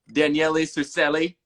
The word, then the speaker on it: Daniele Surcelli: I don't know if that's how you say your name, but I'm going to say it like that because that is fun. Close enough. That is actually how you say it.